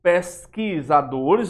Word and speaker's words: pesquisadores: Pesquisadores, o U eu não estou pronunciando.